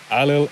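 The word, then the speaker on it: Ailill: a common name in Ireland today next Alia alil is the king of Comet he marries into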